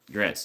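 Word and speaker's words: Gretsch: So, it's a German name, right? Gretz.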